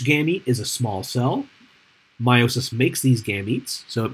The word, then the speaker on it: meiosis: And what you make in meiosis, I know it says me, but it's pronounced meiosis, is you're going to make these structures called gametes.